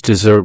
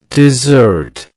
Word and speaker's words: dessert: Many learners confuse dessert with desert. But they don't sound the same. The correct pronunciation is dessert. Dessert. Let's break it down. Dessert. That's 2 syllables. The stress falls on the second syllable.